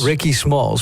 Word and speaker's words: Rickismalls: you up under your artist name, is it pronounced Rickismalls or Rickismalls? Rickismalls.